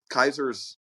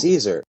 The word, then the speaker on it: Caesar: of Celtic so is Caesar guess how you pronounce Caesar correctly Kaiser Caesar Kaiser oh Kaiser